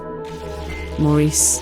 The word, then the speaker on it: Maurice: I'll, considering my last name, I should respect the emphasis on the French pronunciation. Maurice.